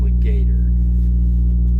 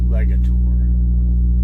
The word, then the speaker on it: Legator: what they do when you buy it from Legator. Legator. Sorry, I keep pronouncing that wrong.